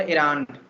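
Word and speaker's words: errand: This is called एरांड। Okay, pronounce the word properly. जो ई लगा हुआ है उसे म्यूट मत कर देना, नहीं तो गड़बड़ हो जाएगा, हिंदी का वर्ड निकल के आ जाएगा।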